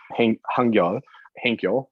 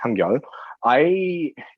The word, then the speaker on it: Hangyul: Our colleague, an old colleague of ours, Hangyul, but her name's actually pronounced Hangyul.